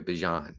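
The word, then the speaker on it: Bijan: know why ban Robinson I think that's how you pronounced his name by the way ban not bean I think we've we''ve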